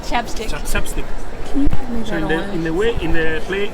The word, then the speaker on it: ChapStick: Chopstick? Chapstick.